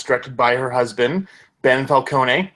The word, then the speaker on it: Falcone: It's directed by her husband, Ben Falcone. I'm sure his last name is actually pronounced Falcone, but saying it that way makes him sound like a Batman villain, so I'm sticking with it.